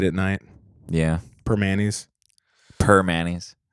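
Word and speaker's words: Primanti's: night yeah per mayonnaise per Manny's that's how you say it really yeah I always say primantis primantis for Manny's yeah I think the real yensers say per Manny's okay per Manny's um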